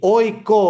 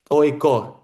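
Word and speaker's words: AIK: Η ΟΙΚΟ, όπως προφέρεται σωστά, ΟΙΚΟ, η ΑΕΚ που λέμε εμείς, είναι ΟΙΚΟ για εκείνους.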